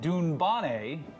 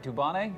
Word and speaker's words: Dubonnet: Every day at lunch, the queen has a gin and dunbane. Is that right? Dubonnet? Sure. With a lemon. Dubonnet. Of course, we had the, yeah. We had the emphasis on the wrong syllable.